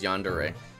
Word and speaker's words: Yandere: Okay, you pronounce it as Yandere.